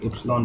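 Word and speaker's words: epsilon: इसको हम basically एप्सिलॉन पढ़ते हैं। ये एक ग्रीक लेटर है, इसको एप्सिलॉन करते हैं। मे बी स्पेलिंग रॉन्ग हो, बट जो भी है प्रोनाउंस में प्रॉपर कर रहा हूँ, तो बेसिकली एप्सिलॉन।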